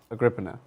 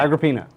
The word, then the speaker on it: Agrippina: so that's the 10 inch charge so according to chat it is roman not greek which is why it would be pronounced uh agrippana all right agrippina i think you said yeah okay okay